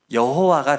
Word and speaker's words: 여호와: 그래서 아도나이에 있는 모음을 저 하나님을 상징하는 4개의 자음에다가 아도나이의 모음을 갖다 붙인 거죠. 그랬더니 그 발음이 여호와가 된 겁니다. 그러니까 원래는 여호와가 아닌데 그냥 주님의 모음을 갖다 붙여서 그렇게 하고 그 단어를 우리는 여호와라고 기록하기 시작한 거예요.